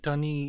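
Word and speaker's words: D'ni: are many ages of Dani almost pronounces it like dunny is this floating society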